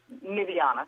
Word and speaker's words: Nyvianna: Nivea. Am I saying it right? Nivana.